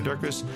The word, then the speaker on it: Durkis: Julianne Rollins, Stu Dolnick, Sarah Durkis, Rhymes with Circus, Kelly Cameron, Wayne Pedersen,